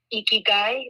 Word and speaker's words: ikigai: really speaks to me it's a japanese word it's pronounced i had to look that this up before this podcast it's pronounced ikigai it's i-k-i-g-a-i it's a